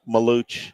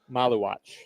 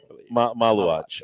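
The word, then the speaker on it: Maluach: It's uh Kan uh help me Maluch. I'm keep saying it. Big guy for Duke. Yeah. Uh the Sudan as a as a possible it's uh Maluatch. Maluatch. Okay. Maluatch.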